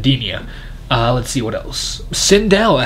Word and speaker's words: Edenia: I can like what they did with the Rydia ah dear sorry I'm pronouncing edenia let's see what else Cinderella actually looks really